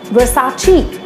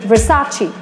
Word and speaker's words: Versace: many people call it Versace but no it's the incorrect pronunciation and the correct one is Versace because it's an italian word you need to speak it in that manner only it's Versace and our next band